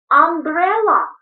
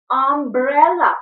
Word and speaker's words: umbrella: Umbrella. Пальчик ставим, смотрим, проговариваем. Umbrella. Umbrella. Учим слова. Буква U, звук А. Umbrella.